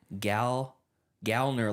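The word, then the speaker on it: Gallner: he says uh someone asked how do you pronounce his last name and he said gal gner like like a like a lady a gal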